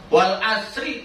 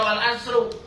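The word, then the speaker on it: والعصر: Wal asri dibacanya wal asri majrur, nggak boleh dibaca wal asru doma, nggak boleh dibaca wal asro, karena wawunya di sini wawu kosam, wawu sumpah.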